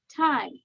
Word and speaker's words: time: তাসমিয়া টি বলতেছো যে টি বলবে তার বাতাস বের হবে না যে টি বলবে